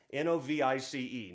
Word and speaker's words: Novice: south of abilene texas called novice texas n-o-v-i-c-e novice is how you say it and so this is called a novice novelty i wrote this when i was about 15.